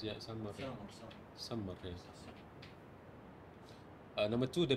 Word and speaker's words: Sumer: That's how you pronounce it, yeah, Sumer.